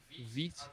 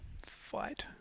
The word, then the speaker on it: Vite: Full stack Supabase with Vite. How do you pronounce that? VITE. Vite. Yeah, I've been saying Uh, fight. Actually, Vite. now that I think about it, I've never said it out loud.